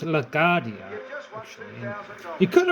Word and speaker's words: LaGuardia: O'Hare is in Chicago, New York City, and it's pronounced LaGuardia.